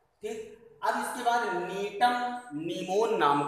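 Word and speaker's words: Gnetum gnemon: अब इसके बाद नीटम नीमोन नाम का पौधा है। ये नीमोन क्या है, स्पीसीज है नीटम की, जी इसमें साइलेंट रहता है।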